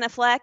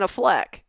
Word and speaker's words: Affleck: just called him ben affleck it's been affleck ben affleck okay look it's like aflac i was like i